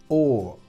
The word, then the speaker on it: or: La conjunción O, or. Fijaos que esta conjunción es una O seguido por una R y solo pronunciamos el sonido vocálico. Sonido vocálico y además alargado.